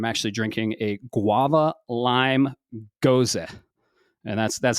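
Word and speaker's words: Gose: Uh today I'm actually drinking a guava lime goza. And that's that's how you pronounce it.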